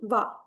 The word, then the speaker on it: は: இந்த வீடியோல நம்ம பார்க்க போற டாபிக் பார்ட்டிகிள் வா.